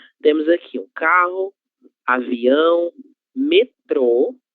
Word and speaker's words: metrô: Metrô é de da palavra metro. Metro, metrô são coisas diferentes, ok? Metro es lo que utilizamos para medir las cosas. Então, eu tenho 1 metro de altura. Quando a gente fala metrô com acento circunflexo na letra O, nós estamos falando do meio de transporte, ok?